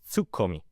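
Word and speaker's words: ツッコミ: The straight man, and in Japanese it's written as tsukomi with two K's.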